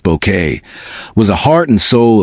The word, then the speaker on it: Bucket: Dame Patricia Routledge, the indomitable Hyacinth Bucket, pronounced Bouquet, was the heart and soul of Keeping Up Appearances.